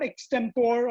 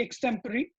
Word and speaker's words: extempore: is used uh extempory so it's not extempore or it's uh ex-temper it's it's supposed to be extempory uh then there was